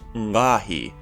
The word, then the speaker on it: ngqaahi: In the ancient Eidun syllabary, this glyph was pronounced ngahi, with a prenasalized uvula stop, but can also be used for the onset character for the syllable nga. But in classical Eidun, the old word ngahi is now pronounced ve, while its syllable character,